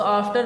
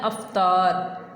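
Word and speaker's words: Iftar: इसको आफ्टर नहीं बोलना है, इसको बोलना है अफ्तार, अफ्तार।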